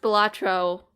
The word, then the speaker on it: Balatro: will be there playing batra it is pronounced well it's pronounced batro Andor however you want to pronounce it by the way it's definitely the Latin I I read an